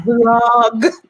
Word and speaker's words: vlog: You mean blog? You're saying it wrong, mija. And I'd be like, no, a vlog with a V.